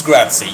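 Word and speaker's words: grazie: It's maybe cuz pizza is pronounced Yeah, like pizza. Oh, very smart of you. Then it's Gratzy.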